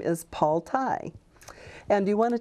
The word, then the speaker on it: Tighe: you don't pronounce right it sounds just like neck tie so like a neck